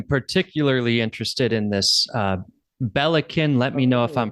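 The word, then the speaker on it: Belikin: yeah I am particularly interested in this uh Bellin let me know if I'm pronouncing it correctly Bellin yeah Bellin yes that's my number one top seller everyone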